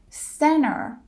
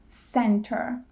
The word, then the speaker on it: center: specific pattern happening here when t comes after n we drop the T so it's interview instead of interview or or Center instead of Center and we do the